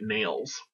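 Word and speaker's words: Nailles: The self-assured Elliot Nails, his name is spelled N-A-I-L-L-E-S, is a mouthwash salesman who identifies himself as a chemist.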